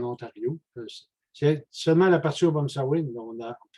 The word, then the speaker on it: Obomsawin: C'est seulement la partie Obomsawin. Mais ils ne prononcent pas ça de la même manière. Eux autres, c'est Obum ou Obon, B-O-N au lieu de B-O-M.